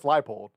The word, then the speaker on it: Leipold: I mean, to be fair, I've always known him as Lance Leipold. I've always known that was how it was pronounced.